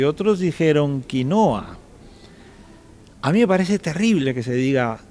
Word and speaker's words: quinoa: lo compren los gringos, escriben quinoa, que en inglés se pronuncia quinoa.